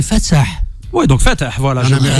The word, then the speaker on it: Fatsah: Oui, comment la vraie prononciation du prénom? En algérien, Ouais. c'est Fatsah.